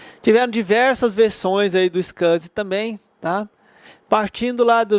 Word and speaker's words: SCSI: Tem a pronúncia aqui, é SCSI.